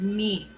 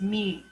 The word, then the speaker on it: mu: with a u so you would pronounce that mean like what a cow does moo moo moo but it's mu okay then you have